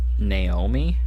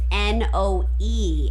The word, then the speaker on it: Noemi: Is that how you would pronounce that name? Naomi? But it's Noemi.